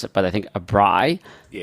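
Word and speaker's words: braai: and it's called a If I I may mispronounce it, but I think a bri. Yes, a bri.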